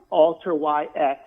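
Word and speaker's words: Alteryx: the same show before his first is for all terrix which is ticker symbol ayx all turrets uh we like alter yx is actually how you pronounce it dean stoker is the founder and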